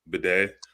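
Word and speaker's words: Badie: Tyler Beatty, which actually is pronounced bidet, I'm not saying that.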